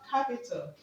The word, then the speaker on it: capital: Now we're going to stress the third syllable from the end of the word capital, okay? Now we have capital, okay? Capital, capital, okay? The third step from the end of this word is cap.